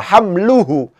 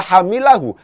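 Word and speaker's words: حمله: Wa hamluhu, bukan wa hamilahu, tapi wa hamluhu.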